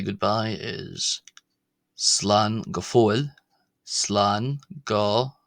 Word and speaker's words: Slán go: Slan go. Remember short o not long not go but go slano slango slango slango slango slango slango.